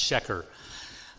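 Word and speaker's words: שֶׁקֶר: If it's a noun, it's pronounced sheker.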